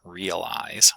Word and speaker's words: realize: So we have words like realize with stress on the first syllable, but reality with stress on the second syllable.